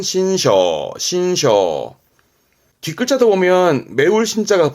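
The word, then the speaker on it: 辛勝: 발음은 신셔, 신셔.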